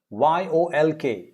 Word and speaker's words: yolk: that shall do it yok y-o-l-k is yolk yolk is the yellow